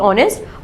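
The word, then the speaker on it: honest: एच ओ एन ई एस टी ऑनेस्ट। और उसकी pronunciation ओ के साथ होती है। एच के साथ नहीं।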